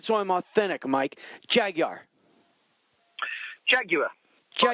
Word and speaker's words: Jaguar: So it's if you look at the way it's spelled, it's Jaguar. So it's Jaguar. So Jaguar, not you. But the Americans put a W in it that doesn't exist.